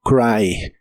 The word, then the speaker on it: cry: La Y de esta palabra se pronuncia como I, así que suena como cry, cry.